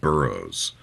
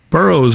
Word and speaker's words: Burrous: Like we talked about, his last name is not pronounced Burrous, and as a journalist, he deliberately changed the pronunciation of his last name to sound like Burroughs, as in William S. Burroughs, who is also a